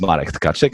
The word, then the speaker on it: Marek Tkaczyk: that's not very often that I hear somebody pronouncing my name correctly. My name is Marek Tkaczyk.